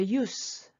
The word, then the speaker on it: use: right road proverb 속담이 use 이것이 명사일 때 소용 발음이 스 만약에 소용이 있다 혹은 사용한다 쓸모가 있다 동사 라면 즈 이렇게 발음 차이가 있어요 proverbs can help 속담은